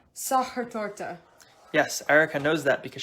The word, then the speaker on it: Sachertorte: things like that and this dessert is actually pronounced sahar torta yes erica knows that because she asked her